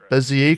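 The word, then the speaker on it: Bézier: After all that bullshit with the spline, or not splines, but the Bezier curves.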